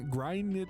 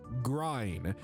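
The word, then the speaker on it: Gráinne: Okay, so it is grine, or I assume grine. Pronounce it grain. Like rain, not like that.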